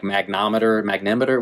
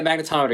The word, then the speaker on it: magnetometer: he refers to like magnetometer, whatever you call it, Magnetometer? Yeah, magnetometer. Yeah, I missed a syllable in there, but The mags, as I now will forever refer them to after the January 6th hearings.